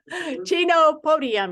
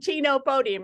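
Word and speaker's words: Chenopodium: uh I know that I know how to pronounce it Chino Podium Chino nope not Pinocchio it's to no podium Chino Podium it's called Chino Podium is what it is um um herbs are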